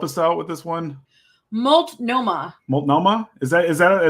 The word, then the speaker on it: Multnomah: was arrested again for public and decency in multnomah county uh that's in that looks like it's nearby can you help us out with this one multnomah is how you pronounce the county multnomah that that's an organ it's not launching oh